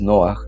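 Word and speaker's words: נח: Pero en Noé es Noaj y significa consuelo, este, aliviar.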